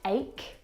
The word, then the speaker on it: ache: Words like stomach and ache. The CH in all of these words is pronounced like a K sound.